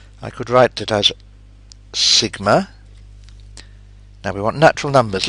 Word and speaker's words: sigma: It's written like this and it is pronounced sigma.